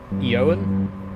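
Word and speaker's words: Eoghan: I'm butchering that pronunciation I think the G is supposed to be silent so it's like yoan I think correct me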